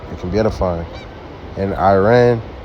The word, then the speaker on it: Iran: can be edifying in Iran or ran is the correct pronunciation of it is not